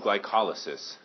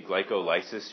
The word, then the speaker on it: glycolysis: occurs it's called glycolysis glycolysis if you look at it kind of looks like glycolysis but if you say glycolysis you're just putting the wrong emphasis on the wrong cabble so you got to go with glycolysis Michael I'm better than